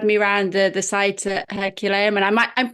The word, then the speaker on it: Herculaneum: He followed me around the site at Herculaneum, and I'm pronouncing that wrong, aren't I? Is it Herculaneum? Yeah. Hercolano.